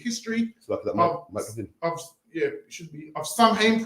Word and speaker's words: Samhain: People it's pronounced start Samhain, but the proper pronunciation, how the council have said it, is Samhain.